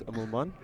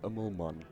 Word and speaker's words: Amelman: It's really not that difficult. It's Amelman. Pronounced the Afrikaans way if you're doing it correctly.